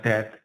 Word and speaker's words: DAD: 그 다음에는 DAD라는 겁니다. dead. 발음을 좀 정확하게 해야 돼요.